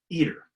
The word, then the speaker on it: ITER: the planet today is eater iter eater that's how you pronounce it it's a game-changing experiment